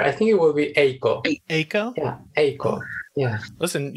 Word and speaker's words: Eiko: I say Eiko. I think it's pronounced in Japanese Eiko, but I might be wrong. Nico might know better than I do. It's very similar. I think it will be Eiko.